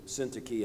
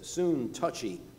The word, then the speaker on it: Syntyche: I remember one person mispronouncing Syntyche as soon touchy.